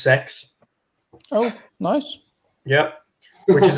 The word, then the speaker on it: CeX: We've still got one pre-owned store, and that's CEX, but it's pronounced sex.